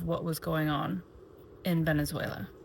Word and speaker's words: Venezuela: was going on in Venezuela, or Venezuela is how they say it.